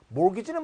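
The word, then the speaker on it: mortgage: g 를 지불하고 있다 모으기 찌가 발음이 안 되죠 모기지는 뭐 우리나라도 최근에 몇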